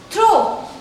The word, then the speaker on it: throw: Last word के pronunciation में this word is throw.